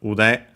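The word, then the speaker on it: 腕: First and foremost, we have ude. This one we might, I don't remember the second part, having seen it here, but yeah, ude, accent on the last more, is a body part, arm.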